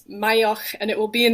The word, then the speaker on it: Maigheach: But I am a Gaelic word, so it's Mayach, and it will be in the show notes, I'm sure.